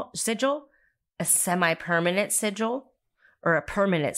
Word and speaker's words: sigil: learn together so um what's essential so a Sigil is spelled s-i-g-i-l and it's pronounced sigil um not like sigil